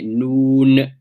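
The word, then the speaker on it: نون: So the upper teeth, the front teeth, the gums behind them, what we call the litha, your noon comes in contact with that when you pronounce, your tongue, comes in contact with that when you pronounce the noon. So you say noon, and this is the makhraj of the noon now.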